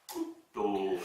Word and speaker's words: couteau: Alors, dites cou comme cou et to comme J'ai to mal. et prononcez yeux. bien. Couteau, et regardez, couteau, prononcez bien.